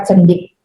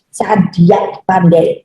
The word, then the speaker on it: cadiak pandai: Jadi, kemana para cendik yang dibilang ini salah pandai bacanya, Cadiak pandai.